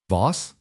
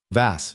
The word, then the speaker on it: Voss: Voss, he mispronounced it. Vas, she said.